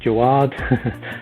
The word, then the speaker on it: Jawad: If you're my mother, then my name is Jawad. So that's the correct pronunciation. However, all my life I've just been called Jawad because that's how you kind of spell my name.